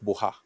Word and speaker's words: Buha: In short, Buha. Buha. Buha. The ha is important. Buha. You must feel some shakings in the throat.